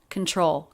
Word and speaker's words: control: to control it control stress on the second syllable tr cluster is often pronounced as chr and i do hear this lightly as a ch rather than a t sound control control control it control